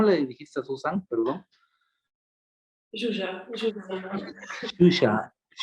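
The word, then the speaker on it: Zsuzsa: Aparte que también los apellidos, etcétera, los nombres que son impronunciables, ¿no? ¿Cómo le dijiste a Susan? Perdón. Shusha. Shusha.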